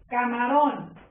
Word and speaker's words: camarón: Camarón. Camarón. La separo. Mi sílaba tónica está en ron, ¿sí?